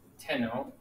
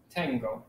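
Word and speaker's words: tengo: saying like i have i have would not be tenno like you would expect it to be it's actually tango they added g in here and some of these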